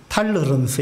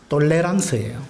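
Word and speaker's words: tolérance: 저 단어는 이제 영어식으로 발음하면 탈러런스 이렇게 되는데 프랑스식으로 발음을 하면 톨레랑스예요.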